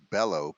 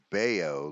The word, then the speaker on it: Bello: Game 1, you got Kyle Gibson going against Brian, what I thought Bello, but it's actually pronounced Bayo, like Scott Baio, right from Joni Loves Chachi.